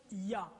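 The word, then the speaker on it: יה: Et la translittération, les 2 premières parties YH se prononcent Yah.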